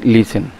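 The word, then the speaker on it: listen: আই এস টিই এন এখানে টির উচ্চারণ হয় না ঠিক আছে এটা হচ্ছে লিসেন লিসেন মানে শোনো বা শ্রবণ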